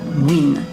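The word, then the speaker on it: Nguyễn: féodal les en guyenne qui se prononce ici win ouais c'était l'ancienne capitale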